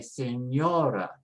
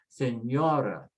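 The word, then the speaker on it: señora: with a vowel so we put the stress next to the last and we say senora senora and the same with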